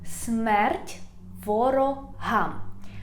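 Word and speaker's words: Смерть ворогам: ukrainian slava nazi you have to reply smertvraham smert voro ham smert voroham it means death to enemies slava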